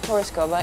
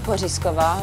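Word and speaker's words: Pořízková: day like a leach pronounce it piskova in English piskova in Czech I'm a former supermodel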